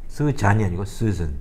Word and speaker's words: Susan: Susan이 아니고 Susan.